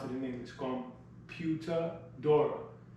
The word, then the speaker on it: computadora: If we phonetically pronounce it in English, computadora. Sounds like computer, looks like computer. We mash it up. In Spanish, it's pronounced computadora.